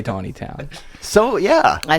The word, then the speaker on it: Taneytown: 20 towns geographically yeah first of all it's Taneytown is it really it's it's Taneytown have we all been saying it wrong this whole time I say Tony town so yeah I say